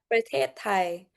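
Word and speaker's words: ประเทศไทย: Prathet Thai. So, it's very different to how you would say it in English, but a lot of the vowels in Thai are elongated.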